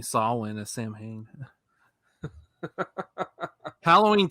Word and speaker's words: Samhain: i still find it hilarious how he keeps mispronouncing saulwin as samhain halloween 2 made me think that's exactly how you pronounced it so for years i kept saying samhain that's because that's the logical way to pronounce